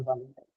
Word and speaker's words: voluntary: So two rules, you can look at the stress pattern in voluntary in two different ways. One is you can say that it's a noun, hence, sorry, it's an adjective, so it takes the stress on the first syllable.